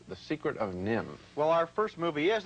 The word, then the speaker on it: NIMH: called The Secret of nim well our first movie is a delightful animated feature it's called The Secret of nim and let's stop right there with that title now Nim is spelled ni MH and no doubt some